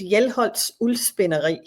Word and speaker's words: Hjelholts Uldspinderi: So Hjelholts Uldspinderi. That's the way you pronounce it.